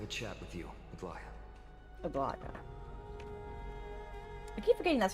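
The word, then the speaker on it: Aglaea: Aglaya.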